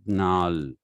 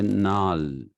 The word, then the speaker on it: gnarl: If you write Gnarl, you don't say gnal, you say nal.